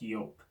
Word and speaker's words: Joop: of people pronounce as everyone says everyone says Joop even though it is actually pronounced York yeah so yeah could you get the ball